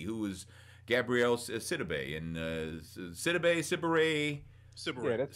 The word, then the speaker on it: Sidibe: he summons Becky, who is Gabrielle Sidibe, and Sidibe. Yeah, that's right. Sidibe. I always mispronounce her name.